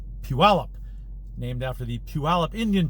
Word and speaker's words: Puyallup: from washington look at it and called the uiolip they have a lot of difficulty pronouncing it but it is actually pronounced puella named after the puyallup indian tribe i believe